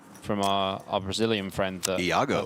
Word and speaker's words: Iago: Yeah, we got those pronunciations down, I reckon, APK, especially Peixoto, because we know from our Brazilian friend that Iago. That's how you pronounce it.